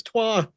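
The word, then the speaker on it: trois: though I thought it was trey leachch like that was three three isn't even trey in French it's twa well I know trey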